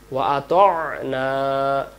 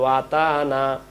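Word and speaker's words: وَأَطَعْنَا: তাহলে আমরা বলবো ওয়াকালু সামি'না, না গেলে ওয়া আতা'না, আমরা এখানে বলি ওয়া আতানা। আমরা যদি এখানে ওয়া আতানা পড়ি, ওয়া আতানা, তাহলে এখানে উচ্চারণ ভুল হয়ে যাবে।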